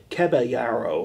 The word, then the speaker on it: Caballero: What is the proper pronunciation? I have had so many people tell me so many different things. Caballero? Caballero or something.